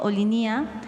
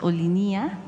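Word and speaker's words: Olinia: Y, Presidenta, preguntarle sobre el proyecto Olinía. Un grupo de pueblos indígenas me pidieron que, digamos, su equipo revisara la pronunciación. Ellos afirman que la pronunciación es Olinía.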